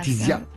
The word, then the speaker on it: Letizia: J'ai une page Facebook qui Qui- s'appelle Laetitia. Alors Ouais. Letizia. Voilà, c'est un Z, c'est Voilà, Laetitia.